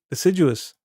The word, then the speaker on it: deciduous: So it is deciduous. I was right all along. Damn. Yes, J sound.